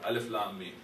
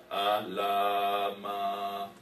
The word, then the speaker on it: Alif Lam Mim: and this other Madda, I wouldn't know that this is pronounced as Alif Lam Mim. I might pronounce it as Alama. Okay. Or if I don't even know that much, I might pronounce this as Alima.